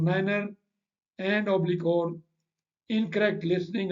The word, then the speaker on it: niner: 5 and 9 that if 9 is pronounced as nine instead of Niner and oblique own incorrect